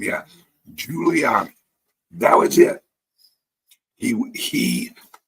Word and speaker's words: Giuliani: I think that's how you pronounce his name. Yeah, Giuliani.